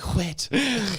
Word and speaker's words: whet: Anyway, I was hoping you'd really whet my appetite. You have to say it like whet my appetite because there's an H in there.